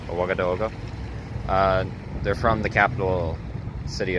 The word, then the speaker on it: Ouagadougou: Ouagadougou, I believe, is the proper way to say the capital's name. Ouagadougou.